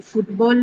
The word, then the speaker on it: football: are going to uh just use the uh elementary stress or the by default stress which is on the first word. So then football would be stressed with